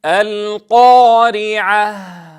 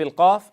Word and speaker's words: القارعة: نتنبه لأمرين: أولا إلى عدم ضم الشفتين عند النطق بحرف القاف أو عند الألف أيضا، فلا نقول القا هكذا القا ظانين أننا نفخم، فنتنبه لهذا الخطأ الشائع. الأمر الثاني ألا نفخم الهاء، فلا نقول القارعة وإنما لا بد أن تكون الهاء مرققة.